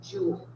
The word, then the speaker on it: joule: when i say it keep in mind it is spelled differently than the thing that sounds like it got it okay so our unit for energy so the si unit for energy is named after a french scientist whose last name was jewel okay okay it is